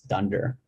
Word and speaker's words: dunder: this one and so when you see two underscores in the python world you actually pronounce that as dunder so this file is called dunder init so it has